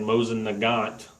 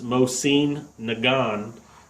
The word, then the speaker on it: Mosin Nagant: I was saying Mosin Nagant, and that's because that's how it's spelled, and that's how you think it's pronounced, but it's not. It's Mosin Nagant is how you pronounce it, and so now